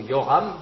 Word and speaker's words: Joram: Yoram si vous préférez en général les les j dans nos transcriptions des noms bibliques correspondent à une lettre en hébreu qui se prononce y en fait donc on peut traduire Yoram on peut dire Yoram le roi Yoram était